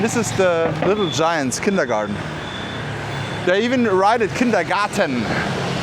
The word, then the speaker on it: kindergarten: Kindergarten? I thought the English people would say kindergarten with D, because it's a garden. I mean, they write it in the German way, so we can also pronounce it German, right?